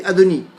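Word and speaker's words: אדני: un peu moins hermétique il est écrit comme le verbe être au futur la troisième personne du futur à peu près et on le prononce comme le maître du monde à donne l'air quand on dit mon sueur ont dit à doni et qu'on va dire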